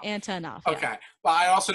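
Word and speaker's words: Antonoff: And I said it wrong, didn't I? Yeah. I was going to say, Antonov, did you say? No, I said Antov. Antonov. Okay. It's like Jack three syllables. Antonov.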